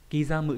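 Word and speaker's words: 刻む: Kizamu chữ Hán là chữ khắc, chữ khắc trong từ điêu khắc chô cố cự ấy, thì âm cư là đọc là kizamu.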